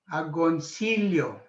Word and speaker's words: Agoncillo: a and again the double l rey is pronounced as yo okay agoncillo so she's the mother of the philippine flag